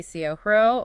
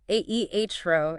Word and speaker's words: cero: Pay a bit of attention to the pronunciation of cero. It can be cero or aehro in Spain. Ah, the CZ sound again.